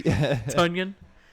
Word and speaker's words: Tonyan: bro, I don't know, Robert Tonyan maybe. Tunyon. It uh, rhymes with onion.